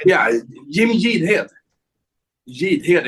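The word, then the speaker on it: Jidhed: j yeah Jim jhead Jad it's yeah it's a hard Jad sounds like that Jad yeah and funny enough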